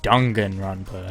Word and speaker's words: Danganronpa: Oh, I'm sorry. Dongan Rampa. That's how you pronounce it.